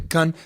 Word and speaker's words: Cannes: I'm like, I got to parasail into Cannes Film Festival in a yellow tuxedo, and when I introduced the trailer for the Emoji Movie, the international trailer, the Hollywood Reporter was like, and he continually mispronounced Gun Film Festival, apparently saying gun over and over.